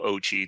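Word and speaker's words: OCCHE: climate change Health Equity which I'll call ogi that's how they're Pro pronounced but there the the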